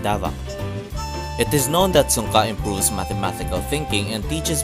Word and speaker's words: Sunka: pronounced sunka it is a philippine manancala game that is